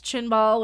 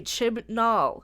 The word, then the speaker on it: Chibnall: It wasn't written by Chris Chinball, which I can never say his name right, so Chinball is sticking.